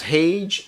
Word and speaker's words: Hage: and he said that hey rhymes with cage so it's haage and cage okay so we're going